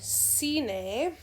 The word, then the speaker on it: cine: For example, cine, if I have the word cine, spelled like this, cine, it makes the S sound.